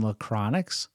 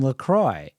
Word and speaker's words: LaCroix: Roy and I said don't you mean lacronics and she said uh no I mean Lacroix and then I would